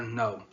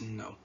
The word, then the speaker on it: know: Now I or know. The answer, of course, is know.